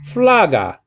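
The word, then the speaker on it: φλόγα: so l in greek then you have omicron with the acute so you say flaga you see see how you raise the pitch of your pronunciation at that point because it has what the acute marker remember the little marker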